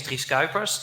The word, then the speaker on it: Dries Cuijpers: am I here um my name is Chris cobras that's the way it's pronounced so you did really well I'm not sure where you are but um yes and if you know how to pronounce My Name by the way you also know how to pronounce Johan Cruyff because it's actually the same thing um so um I